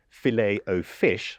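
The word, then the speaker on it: Filet-O-Fish: of Big Macs and filet o fish, I believe, as it's correctly pronounced.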